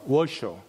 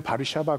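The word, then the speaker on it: Warszawa: 당했을 때 그 어 워 쇼크 그 플랜트의 수도인 우리는 바르샤바 그렇게 발음하는 거두어 시에 있는 그 유대인들을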